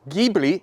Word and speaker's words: Ghibli: Hello everybody, welcome to number 27, I'm Jack, and this is a 1970 Maserati Ghibli, Italian pronunciation, Spyder.